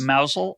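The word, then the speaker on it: Mousehole: of you keeping score at home but it's pronounced mousel okay yeah yeah like mouse or yeah um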